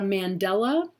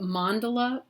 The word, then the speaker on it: mandala: concept of a mandala it's not a mandela it's uh i've heard a lot of really uh interesting uh pronunciations of the words but mandala is really the probably